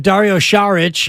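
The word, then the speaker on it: Dario Šarić: Lopez he's not a veteran minimum guy but Dario sharich as we uh now know is the correct pronunciation is uh that's the guy who might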